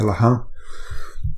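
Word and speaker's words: לחם: Veja só, a mesma palavra que pão, mesma grafia, só muda a pronúncia, em vez de lehem, é laham, realmente a palavra para guerra.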